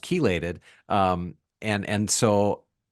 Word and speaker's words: chelated: h e l a t e d but pronounced kated um and and so like that one seems